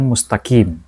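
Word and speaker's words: مستقيم: membacanya ihdinaqim ihd mustaqim mustaqim Q bukan mustaqim kalau mustaqim itu huruf k dia ihdinatal mustaqim Ini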